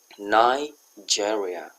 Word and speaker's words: Nigeria: Ini bacanya Nigeria.